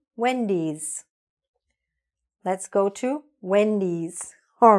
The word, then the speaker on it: Wendy's: We don't say, let's go to Wendy. We say, let's go to Wendy's.